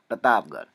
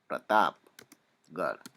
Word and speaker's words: प्रतापगढ़: प्रतापगढ़, पी आर A Pratap, प्रतापगढ़, जी ए आर एच, गढ़, ठीक है। ढ का भी मैंने समझा दिया है कि वो ढ का उच्चारण नहीं होता है, र का उच्चारण होता है, इसलिए हम आर एच लगाते हैं।